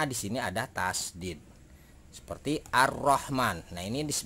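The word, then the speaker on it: الرحمن: sini ada tasdid seperti ar-rahman nah ini this dibacanya adalah ar-rahman alifnya dibaca jelas lainnya tidak dibaca yang dibaca adalah roknya karena ada tasdid kena untuk mengetahui tasydid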